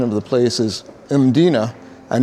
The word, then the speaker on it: Mdina: One thing I want to make clear is the pronunciation of the place is Mina and not Medina.